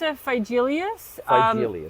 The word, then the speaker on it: Phygelius: How do you pronounce this? That's a felious.